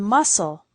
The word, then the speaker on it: muscle: We have words with silent letters, like thought, island, and muscle.